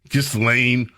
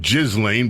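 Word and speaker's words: Ghislaine: Is that how you pronounce this broad's name? Gizlane. I've heard so many different pronunciations. Gizlane. I want to call it Jizlane, but I dare not.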